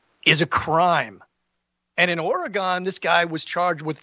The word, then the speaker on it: Oregon: Uh, if you ask any local in Oregon, they'll say it's pronounced like oregano.